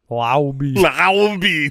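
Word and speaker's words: Laube: Lowby. That's it's Dylan Lowby. We looked it up. Yeah, we did. Rhymes with wow.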